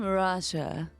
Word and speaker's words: Arasha: have a very special guest with us today arasha and I'm Rasha that's how you guys said your name gorgeous that is the proper pronunciation of your name yeah I think I